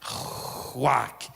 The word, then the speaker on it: ruach: A palavra ruach, eles pronunciam no hebraico assim, ruach, como um sopro, como um vento que vai saindo.